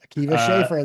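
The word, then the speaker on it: Akiva Schaffer: is Lucas tell me if I'm saying his name wrong uh Kea schaer schaer you got it Kea schaer that's perfect of lonelyland director of oh yeah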